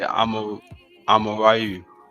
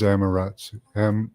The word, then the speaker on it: Amaterasu: Yeah, the Amaratu, that sounds familiar, but it sounds like you're trying to say Amarayu. Is that Amarayu? Is that how they pronounce it? Sun goddess in Shinto. It is Amaterasu.